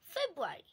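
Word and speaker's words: February: ফেব্রুয়ারি, আমরা অনেকেই বলে থাকি ফেব্রুয়ারি, আমরা কিন্তু সবাই এটা বলে থাকি, তবে এটার আসল উচ্চারণ হবে ফেব্রুয়ারি, আরটা আসবে না।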